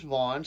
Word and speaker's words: Vaughn: The first name's Vaughn, starts with a V, ends with an N, too many vowels, way too many consonants, and the H is silent, like in John.